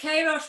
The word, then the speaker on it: Queiroz: my guest is koresh you know i've never asked you how i pronounced your surname is that right it's krosh but don't worry about it honestly okay i have